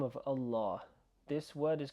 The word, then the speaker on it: Allah: I'm just going to say that ideally that's the way you want to pronounce Allah. Allah.